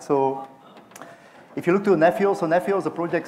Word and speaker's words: Nephio: present uh neph so we pronounce it neio I don't know who